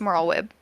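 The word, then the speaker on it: Merlwyb: for me okay uh Chief Admiral a merlweb uh Blowfish win that's better than I thought you would do yes it's moral web she leads the Maelstrom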